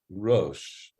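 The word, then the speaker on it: ראש: That is, it's saying it's written in a certain way, so that would indicate Rash, but we pronounce it Rosh, so it has this dual meaning.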